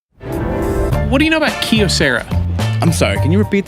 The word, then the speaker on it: Kyocera: right Kyocera everybody knows Kyocera Kyocera that's how you say it yeah that's the new